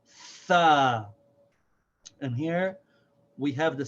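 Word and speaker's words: ث: So this is like the TH in the words think, thought, thorough, and so on. The sound is th, and the letter name is Tha.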